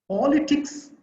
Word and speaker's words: politics: see the word politics politics is a word having three syllables o lee for which syllable do we take extra force extra time for so that is the stressful syllable so there is a stress mark before the sound for before that first syllable so the first syllable